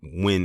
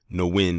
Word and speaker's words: Nguyen: time because everyone's saying it's pronounced win and not know when or however it is